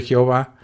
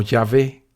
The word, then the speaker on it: Yahvé: chica y la H, salió la aberrada pronunciación de Jehová, que hoy quien la use será todo un perfecto ignorante, incapaz y necio, ya que lo correcto es escribir y pronunciar el nombre de este otro concepto de Dios de la Biblia como Yahvé.